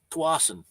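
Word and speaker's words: Tsawwassen: That's Tawasin. Now I went to Tawasin again and took some video out there and the trip out there. So I'm going to make another video on Tawasin.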